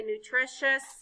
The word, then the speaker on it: nutritious: So when we see this card, we're going to say nutritious shus. Let's say it again. That sounds new. Nutritious. Nutritious shus. Very good.